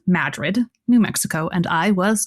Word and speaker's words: Madrid: Is this the town I pronounce as Madrid? Yes. Yes, but they pronounce it as Madrid. Only if you're from the place.